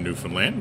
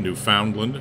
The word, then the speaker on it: Newfoundland: a little bit about place names uh in newfoundland we've just uh just run through a number